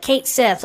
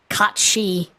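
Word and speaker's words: Cait Sith: and apparently you know it's Celtic so it's not pronounced the way it's spelled like at all caught she so I tried to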